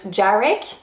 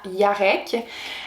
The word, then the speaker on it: Jarek: Jarek, vous pouvez le prononcer comme vous voulez, donc Jarek, Jarek ou Yarek. Donc, c'est 3 façons de le prononcer. Je pense qu'à la base, le prénom se prononce vraiment Yarek.